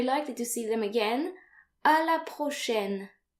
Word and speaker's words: à la prochaine: So note here that A and I are pronounced like AI in the English word said.